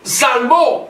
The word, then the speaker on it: salvó: ¿Quién nos salvó? Con acento en la O.